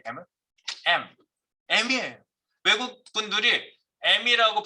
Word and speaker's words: em: 어떤 분은 EM이라고 읽는 분도 있어요. 계속. M이라고 읽으세요. 이거는. 네.